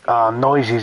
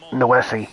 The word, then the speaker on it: Noesi: pronouncing Noisy's name wrong. It's Noesi.